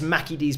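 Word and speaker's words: Maccy D's: But yeah, here it's Mackie D's because of the MC being pronounced as Mac.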